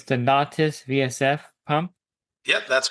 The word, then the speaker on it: Nautis: I'm just reading it off how it's spelled. It's the Nautis VSF pump.